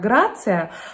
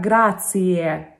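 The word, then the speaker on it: grazie: но тем не менее знаете что слово спасибо в итальянском языке они произносятся как грация а произносится как грации на конце там грация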